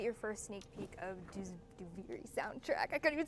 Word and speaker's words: Duviri: We've been typing it only because we're still working remotely, so saying Duviri out loud is that's how you pronounce it, by the way. Duviri.